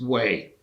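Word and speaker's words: Hue: place called wayfubai and way was the former imperial capital of the of the unified vietnam and it's h-u-e pronounced way that's just the way it is but um that was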